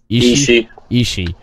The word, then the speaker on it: Ishii: Ishii. That's gonna be a great one right there. Yeah. That's gonna be a great one. I don't really know both of the guys very well, but I know Ishii, and I've seen him wrestle a few times